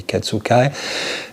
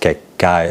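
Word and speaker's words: 血海: In hiragana, when you write what they call a little tsu, so ketsu, but with a little tsu, you double the consonant that follows, and so it is pronounced Kekkai and not Ketsukai.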